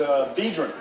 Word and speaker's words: Biedron: So it's Biedron. Yeah, that's good. Most people pronounce it Bidron. It's Polish.